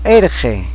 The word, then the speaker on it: Irji: Irji, se pronuncia como erge.